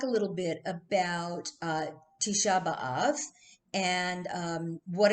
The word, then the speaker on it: Tisha B'Av: grown up calling it tish above i know my mom did because um she pronounced a lot of uh a lot of the hebrew words with um uh with a yiddish inflection she used to say